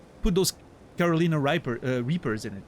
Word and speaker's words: Reaper: No, not riper. Reaper.